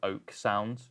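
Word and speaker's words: Oeksound: It's by a company called Oak Sound, which is spelled like that, OEK Sound.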